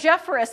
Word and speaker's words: Jefferis: work with a woman whose last name was jefferis and the number of names that she was called that weren't jeffress i couldn't it was